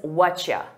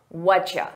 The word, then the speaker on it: whatcha: Have you heard that native speakers pronounce what do you as what-ya? What-ya? We combine all those sounds together, what-ya. An alternative is whatcha, whatcha. And I use both of them equally, so it's important that